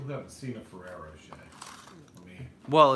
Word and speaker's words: Rocher: Roche. And you should know that because you never pronounce the R's at the end of your words either.